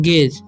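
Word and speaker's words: gauge: ठीक है, तो जी का यहाँ पर इसे पढ़ेंगे, जी का उच्चारण ग होगा। ठीक है, गे, यू का उच्चारण नहीं होगा। और AGE है तो यहाँ पर जी का उच्चारण ज होता है, पढ़ेंगे हम गेज।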